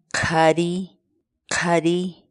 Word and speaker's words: qhariy qhariy: series videos where we teach you how to pronounce certain words in quechua so our word of the day for today is Cuddy Cuddy Cuddy Cuddy Cuddy Cuddy in English the cat's